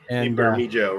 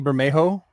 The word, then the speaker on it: Bermejo: Yeah, Lee Bermejo, right? Yeah, Lee Bermejo. You're probably saying it right. I think the J is an H.